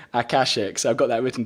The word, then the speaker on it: Akashic: I was like, how do I pronounce it? And I had someone speaking to me on YouTube saying Akashic, so I've got that written down.